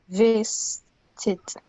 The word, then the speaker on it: visited: Okay, it's 3 syllables. Na. Yes. Can you do it in 3 syllables? Visited. You're not saying the I sound after S.